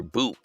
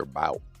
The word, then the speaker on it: Bout: you know clip after Victor boo I don't I kept saying Victor about right I've been pronouncing it wrong all along right this is the